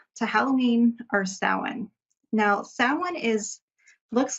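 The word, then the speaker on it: Samhain: we're leading up to Halloween or sin now sin is looks like it would be spelled Sam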